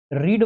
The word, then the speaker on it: read: रीड verb की जब third form होती है, सेकंड फॉर्म होती है, तो स्पेलिंग सेम रहती है, लेकिन प्रोनाउंसिएशन में रीड की जगह रेड पढ़ते हैं, तो ये थर्ड फॉर्म है रेड।